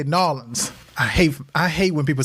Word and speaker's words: New Orleans: It's New Orleans or New Orleans. No. New Orleans. We do have a draw, so it does sound like Lawlins, if you say it like that.